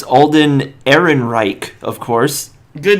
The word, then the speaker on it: Ehrenreich: It's Alden Ehrenreich, of course. Good name pronunciation.